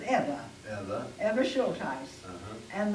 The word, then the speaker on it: Eva: My mother's parents' name was E-V-A. They pronounced it Eva.